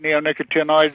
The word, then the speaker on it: neonicotinoids: But generally, I pronounce it neonicotinoids. There are, variations. I think just about anything is acceptable.